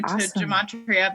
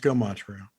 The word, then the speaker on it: Gematria: I'm very new to Gematria, but now Great. I've spent like hours and hours. It's so bad, but it's also so addictive. You know. Pronounced Gematria.